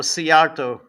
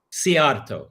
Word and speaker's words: Szijjártó: George, how do you pronounce the Hungarian foreign minister's last name? Oh, Szijjártó. Szijjártó. Okay, I always read it, but I never hear it. Yes, Szijjártó.